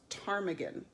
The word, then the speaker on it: ptarmigan: It's actually pronounced ptarmigan.